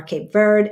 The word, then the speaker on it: Cabo Verde: or Birdie Africa yes Cabo Verde Africa um or cap verd As Americans say it and you y'all